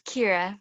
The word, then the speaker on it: Kira: i was saying is it's kira but i answer to many pronunciations um i think for